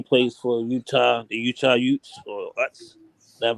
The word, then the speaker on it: Utes: uh for he plays for Utah the Utah Utes that's how you pronounce that damn uh team name but this